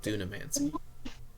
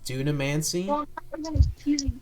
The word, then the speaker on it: Dunamancy: forms what is called dunamancy Dam man uh I will spell it for you uh t u n a and then M ancy so Duna mancy okay and that other